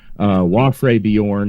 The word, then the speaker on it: Wafre Bjorn: Wafre Bjorn is how you pronounce my name, and it's shortened to